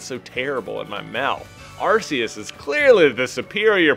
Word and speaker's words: Arceus: phone in the game we're getting a call on our rs phone instead of our arc phone so i think that's